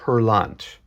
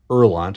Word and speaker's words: Hurlant: a copy of metal herant metal herant erant I believe it's called um I think it's a silent h uh is the French